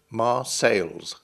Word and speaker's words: Marseilles: English speakers would have spelled and pronounced the town's name with an s on the end ma sales if the S ever